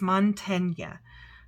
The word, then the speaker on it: Mantegna: monteneg montany mon a I'm going to say it's Montana I think that g is um is silent I think it's Montana in okay so faithful